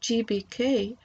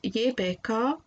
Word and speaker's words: JBK: These letters pronounced not in an English manner as GBK, but as JBK, according to their original German pronunciation and also Latvian pronunciation, will reappear during my